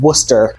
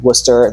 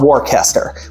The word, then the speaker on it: Worcester: is in Worcester Massachusetts it's not warcaster which is what it looks like to everybody west of the Mississippi it's pronounced Worcester unless you're from